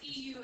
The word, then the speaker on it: Euler: No, it's EULER. EULER. EULER. It's pronounced Euler.